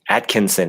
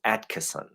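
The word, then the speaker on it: Attkisson: show, I was saying Atkinson. It sounded like I got her name wrong. It's not Atkinson, it's Atkinson. No N in there. In the middle.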